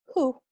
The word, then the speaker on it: who: House, hair, happy, behind, who, unhappy. So, esta palabra who, quién, es muy confuso porque se escribe WH, pero decimos. Tal vez han notado que no hay ninguna palabra que termina con este sonido.